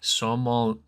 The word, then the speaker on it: sommelier: We need Moose to pronounce this for me. Sommelier.